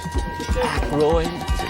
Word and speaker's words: Aykroyd: Chevy Chase, Kilda Radner, Dan Ike, how the fuck do you pronounce this? Aykroyd.